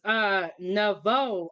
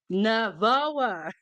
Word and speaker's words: Navoa: It's Navo. I'm weak." Oh, I'm not pronouncing it right, lady. I'm just gonna say lady. He said, okay, so her husband got mad and he came and said his last name is Navoa.